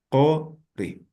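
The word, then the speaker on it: quri: Entonces, esto al momento, esta vocal al momento de pronunciar, se va a pronunciar como si fuera la vocal O, cori.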